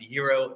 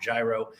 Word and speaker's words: gyro: for their gyro and yes it is pronounced Euro not gyro that's how I grew